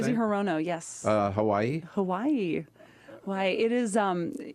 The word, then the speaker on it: Hirono: Mazie Hirono, is that how you pronounce her last name? Mazie Hirono, yes.